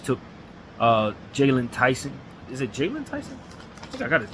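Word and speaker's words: Jaylon Tyson: Is it Jalen Tyson? I think I got his name wrong real quick. Yeah, it is Jalen Tyson.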